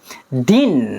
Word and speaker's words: didn't: Din ya, sebenarnya din bukan did ya, din seperti itu bacanya.